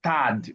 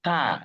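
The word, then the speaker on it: tard: You were pronouncing something as tad. No, it's tar. The D is silent.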